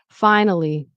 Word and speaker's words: finally: So, it's finally finally on the fine. That's where the stress is.